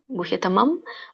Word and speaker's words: ಗುಹ್ಯತಮಂ: ತತೋವಕ್ಷಾಮಿತೇಹಿತಂ ಸರ್ವ ಉಚ್ಚಾರಣೆ ಸರ್ವಗುಹ್ಯತಮಂಭೂಯಹ ಅನುಸ್ವರ ನೋಡಿ ಅಲ್ಲಿ ಮ ಬರುತ್ತೆ ಪ ವರ್ಗದಲ್ಲಿ ಹಾಗಾಗಿ ಮ ಬರುತ್ತೆ ಗುಹ್ಯತಮಂ ಭೂಯಹ ಶರಣುಮೇ ಶರಣು ಶಣೋಮಿ